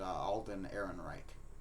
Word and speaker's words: Alden Ehrenreich: I believe his name is pronounced Alden Ehrenreich.